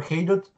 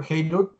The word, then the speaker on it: Haidut: And I post online under the moniker Haidut. It's spelled H-A-I-D as in dog, U-T as in Tom.